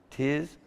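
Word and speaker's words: תִּזְכֹּרְנָה: me, say it again, tizkorena, tizkeru, Tiz Karena. Tiz Karena. I should have practiced these, huh? Nizkor. Tiz Korena. Nizkor. Tiz Koren. Because you got to pronounce the second schwa.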